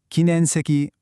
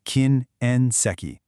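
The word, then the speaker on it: 禁煙席: You want to make sure you separate that N and E sound. So, it's kin en seki.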